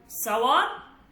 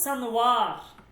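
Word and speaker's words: سنوار: এটা আপনি দুই ভাবে উচ্চারণ করতে পারবেন। একটা হচ্ছে নুন বাদ দিয়ে সাওয়ার, আর একটা হচ্ছে সানওয়ার। অভিধানে দুই রকমের উচ্চারণই আছে, ঠিক আছে?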